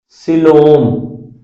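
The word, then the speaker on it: coelom: है ये आपके पास कहलाती है यहां पर सिलोम। इसमें ई जो है वो साइलेंट है।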